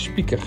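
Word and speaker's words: Spieker: also popularly known as code Spiker Spiker is pronounced as Speaker that comes from the Latin words picarium which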